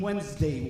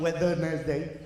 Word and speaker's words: Wednesday: I had no idea the first D in Wednesday was silent.